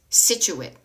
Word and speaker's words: Scituate: It's Scituate.